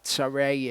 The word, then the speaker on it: Sarai: that he said to Sarai, his wife, see, I know that you are a fair woman to look at. Sarai is how that is pronounced in Hebrew.